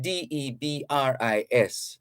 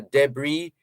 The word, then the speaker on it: debris: It's spelled Debris. And because it's a French word, the S at the end is silent, right? So you can pronounce it in two ways, either debris or debris.